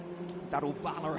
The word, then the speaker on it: Daruvala: Daruvala, I should say. How do we say it correctly? It's Jahan Daruvala.